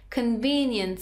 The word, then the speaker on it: convenience: Convenience store. Stress isn't convenience. Second syllable.